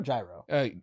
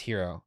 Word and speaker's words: Jiro: Is it Hero or Gyro? It's Hero.